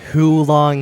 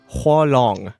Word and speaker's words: 火龙: 火龙， Hualong. 火龙， Hualong. 火龙， Yeah, it's full on heater. Hualong. People say who. Hulong heater. It's hua.